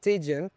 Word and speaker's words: tydzień: different form, which is tydzień, tygodniu, but also the stress changes. Tydzień, the stress is on the first syllable. Tygodniu is on the second because you add something else.